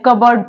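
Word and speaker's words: cupboard: रहा है बी के बी से पहले जो पी आ रहा है वो यहां पर साइलेंट है क्या वर्ड है कफ बोर्ड तो इससे क्या पढ़ते हैं कबर्ड पढ़ते हैं कवर्ड पी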